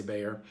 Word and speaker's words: Bayer: pronounce it buyer your my european colleagues and friends say buyer but in the u.s we tend to say bayer and i come to